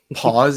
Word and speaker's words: Paz: So Spelled pause, P-O-S. pause as in like stop. Is Like that pass, like It's peace. P-A-Z. It's P-A-Z.